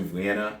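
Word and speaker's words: Wien: which is translated to vienna in japanese which is why even though it's going to be spelled on screen as w-i-e-n her pronunciation will be vienna margaret so very interesting uh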